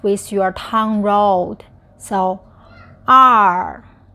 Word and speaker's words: 二: So, R. R. So, fourth tone, stomp your feet.